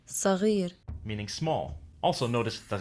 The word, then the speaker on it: صغير: sin, which is like a regular S sound in English, but there is also sod, which is an emphatic S, as in the word صغير.